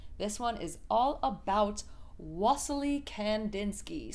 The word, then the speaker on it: Wassily: one is all about wasley Kandinsky some people pronounce his first name vasy he was from Russia